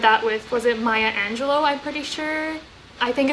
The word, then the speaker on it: Angelou: an excerpt of maya angelou's like speech angelou angelou sorry it's pronounced maya angelou's um one of her